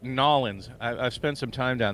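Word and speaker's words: New Orleans: lay more asphalt down it's oh it's that's pronounced Nolans I've spent some time down there when I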